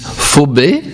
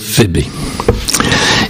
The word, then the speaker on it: Phébé: Il y en a qui disent Phobé et d'autres qui disent Phébé. Je trouve plus sympathique de dire Phébé.